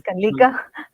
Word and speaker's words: Kalika: take this forward so my name's Kika it's pronounced as Kika and uh um yeah